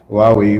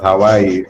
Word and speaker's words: Huawei: I would have been, I would have flogged him if he was pronouncing it as Hawaii or something else.